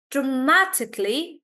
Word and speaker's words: dramatically: is on SE reception dramatically stress is on Ma dramatically reception espresso pre and